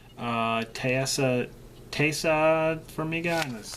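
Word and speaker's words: Taissa: Uh Tessa Tessa Figa.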